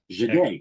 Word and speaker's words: Jahdae: Well, first of all, I think his name is pronounced Jahdae Barron, right? Am I Yes. correct? Yes. Jahdae.